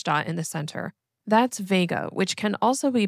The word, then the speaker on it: Vega: That's Vega, which can also be pronounced as Vega.